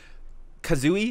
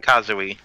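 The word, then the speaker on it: Kazui: Kazooie, is that how you say it? Does anybody know how to pronounce Ichigo's kid's name? Is that Kazooie? Kazooie, yeah.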